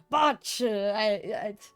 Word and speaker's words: Bach: You have to like growl.